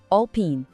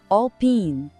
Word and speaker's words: Alpine: A segunda sílaba tem um som de i bem longo e claro. Pin. Juntando tudo fica all pin. Vamos de novo com energia all pin.